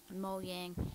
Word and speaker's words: Mojang: pretty cool but anyways mo jang or mo yang i'm pretty sure that's how you pronounce in sweden but they they got